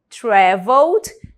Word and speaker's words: traveled: Traveled, eu já não pronuncio esse E do final.